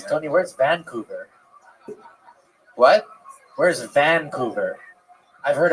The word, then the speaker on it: Vancouver: You put the wrong emphasis on the wrong syllable.